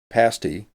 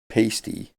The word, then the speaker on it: pasty: already know number one it's pronounced pasty and not pasty and number two fudge